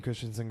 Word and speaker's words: Christensen: Christensen.